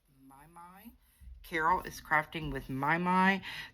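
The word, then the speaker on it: Mimi: And then there is also Carol is Crafting with My, which is spelled M-I-M-I, but it pronounced My.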